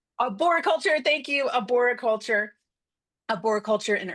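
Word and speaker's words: arboriculture: Arbo culture ar how do you say that? Georgia, you have to go off mute and tell me. Aborulture. Aboriculture.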